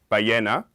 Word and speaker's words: ballena: the first syllable, and ballena, which means whale, with stress in the second syllable.